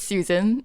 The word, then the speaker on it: Su San: yeah like okay it's it's pronounced as Susan as how one normally would say Susan um okay but I